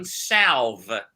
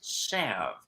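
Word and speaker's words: salve: said Dad what's cloverine salv and he put the paper down he says Stephen it's not Sal it's Sav and I said okay so they don't pronounce the L no you just it's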